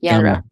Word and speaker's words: genre: to get stuck in one gender in one gendra. Gendra I don't know how you say it but genre genre.